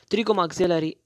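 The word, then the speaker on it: pterygomaxillary: have we called it chilly go maxillary the P is silent trigger maxillary not or hammer or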